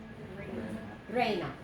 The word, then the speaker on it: reina: is what oh great Reina two syllables only two souls yeah no not three